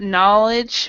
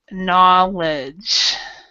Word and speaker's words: knowledge: this, or we've got knowledge, we've got know. These words have no. The K is silent in the pronunciation, so it's and so knowledge is really the pronunciation here.